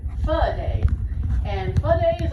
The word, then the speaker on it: pho: And if you're not familiar with pho, it is spelled P-H-O. Some people mispronounce it pho, but it's really pronounced pho.